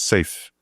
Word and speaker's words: SAFE: Yeah, the abbreviation is pronounced SAFE. Yeah. Because it is safe.